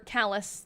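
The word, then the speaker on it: Calais: She lives in Cal or Callus. That's how it's pronounced.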